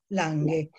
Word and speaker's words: Lange: Algunas hemos dicho Lange y otras han dicho Lange, pero es un apellido nórdico, por lo tanto la G se suaviza, se pronuncia Lange, pero nosotros podemos argentinizarla si queremos, eso es cuestión...